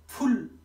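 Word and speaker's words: 불: फादा भनेको समुद्र र यो फुल भयो यो बुल नभएर फुल भयो फुल भनेको बत्ती त्यस्तै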